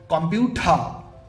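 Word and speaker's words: computer: টি ই আ এই অ্যালফাবেটটা ওয়ার্ডের শেষে আছে তাই আর উচ্চারণ হবে না এখানে এটা উচ্চারণ হবে কম্পিউটার কম্পিউটার বা আর যদি ওয়ার্ডের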